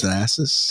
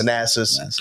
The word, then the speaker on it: Thanasis: How do you pronounce it? Thanasis. Thanasis.